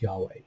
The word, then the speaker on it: Yahweh: translate into english as y-h-w-h and most often pronounced as yahweh so verse 13 and yahweh stood beside him and said i am yahweh the god of your of abraham your father